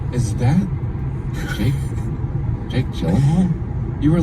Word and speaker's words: Gyllenhaal: It's actually Gyllen, like Jill, like a J. Jake Gyllenhaal. I've been saying it wrong for like, I don't know, a long time, like 20 years. It's Jake Gyllenhaal.